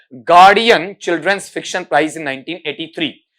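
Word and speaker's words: Guardian: जीता, जिसका नाम है गार्डियन चिल्ड्रंस फिक्शन प्राइज, ठीक है। इसका उच्चारण सुन लेना, गार्जियन नहीं है, गार्जियन नहीं है, बल्कि बेटा वहां पर क्या है? गार्डियन है आपका, ठीक।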